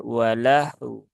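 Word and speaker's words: وَلَهْوٌ: lahwun di sini ee kalau kita waakaf ya maka ya konsepnya sama dengan yang sebelum-sebelumnya tadi ya yaitu Hnya sukun ee kemudian wunya juga disukunkan Karena sebab waqaf maka terbaca dengan walahu walahu ya u ahah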